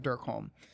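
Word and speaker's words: Derkholm: home Dark Lord of Dirk home is great it's absolutely brilliant but it's spelled exactly how it sounds Dark Lord of de rkh OLM might be an EVA on the end of Dirk home but it's a really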